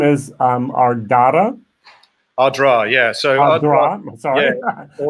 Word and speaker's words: Ardara: So it's actually Ardan Raha in Irish, which is the height of the fort. So there's a fort up on the hill. But it's been anglicized to Ardra.